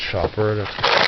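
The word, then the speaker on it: Schaper: Apparently it's pronounced Shopper.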